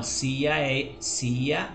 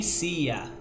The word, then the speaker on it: sea: Não, sea é desse assim, ó. Sea. Certo? Esse si aqui é o mar. Esse si aqui é diferente. E não é nem sia. Não se pronuncia sia, não.